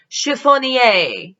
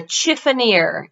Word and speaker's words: chiffonier: a couple of pronunciations chiffonier is a one pronunciation but a chiffonare is the more american pronunciation what do you find or what would you store what would you put in a chiffonaire chiffoneer if you will chiffonay if you're french i'm not what would